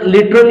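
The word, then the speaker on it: literally: घ्या त्याच्यानंतर आहे लिटरली तर लिटरली मध्ये हे जे लेटर आहे हे आपलला हलकस सायलेंट होताना दिसत आहे तर अशा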